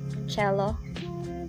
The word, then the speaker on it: Coelho: And here, Paulo Coelho's, how do you pronounce Coelho? Cello.